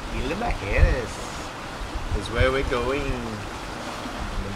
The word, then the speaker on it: Isla Mujeres: left directly south, directly downwind to Mexico, to Isla Mujeres. I think I said it right that time. Been practicing for weeks. Yeah, I didn't say it right. Isla Mujeres. Isla Mujeres is where we're going.